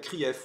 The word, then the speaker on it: CRIF: hditocrates aux ordres comme Rutel CRIF ou Rutel criff ça dépend comme vous souhaitez le prononcer Pascal pro ou Pascal